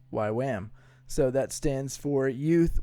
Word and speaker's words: YWAM: a good base directors it's a weirdly pronounced acronym actually why W am pronounced why Wham so that stands for